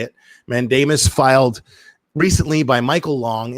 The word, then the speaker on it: mandamus: just learned that that's how you say it mandamus filed recently by Michael long in the custody